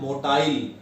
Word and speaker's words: motile: What is the pronunciation? Motile.